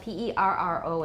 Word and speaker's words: perro: So first of all, we've got a plain R, which is voiced alveolar trill, rrr, and that's the word for dog, which is spelled P-E-R-R-O in Spanish. Perro. Perro.